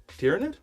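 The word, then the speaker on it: Tyranid: You gotta pronounce it right. I know. We practiced this before the stream started. Tyrannid? Tyrannid.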